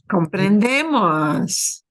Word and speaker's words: comprendemos: We take off the ER from comprender first, and we get comprendemos. Muy bien, comprendemos. And here is the syllable we stress a little bit harder. Comprendemos, okay? comprendemos.